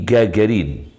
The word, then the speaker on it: Gagarin: lebih panjang daripada gagarinw gagarin translnya jajarin bacanya gagarin transitnya Arab jajarin setelah kembali ke bumi